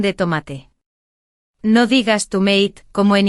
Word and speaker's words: tomate: Y ojo con la pronunciación de tomate. No digas tomate, como en inglés, di tomate con la fuerza en ma.